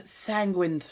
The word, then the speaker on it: Sanguin: part of the pneumonic sanguin rhymes with penguin little bit easier to